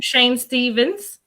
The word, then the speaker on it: Shayn Staven: Welcome, Shayn Stavens, who's here with us today to share some